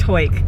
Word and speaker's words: Hawick: much love for Clarendon so it is pronounced hoik confirmed told you thought for